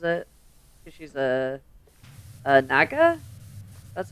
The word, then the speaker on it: naga: If it's acid, she spits on it and throws it cuz she's a a naga. That's how it's pronounced.